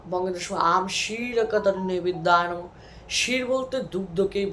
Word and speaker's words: ক্ষীর: থেকে শির তৈরি হয় যেটাকে আমরা ক্ষীর বলি কিন্তু এটার উচ্চারণ শির সংস্কৃত প্রথমে যে বঙ্গেত সময়